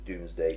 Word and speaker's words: Domesday: I mean, it's spelled DOMES, Doomsday. Yeah. But I thought it was like DOOMS.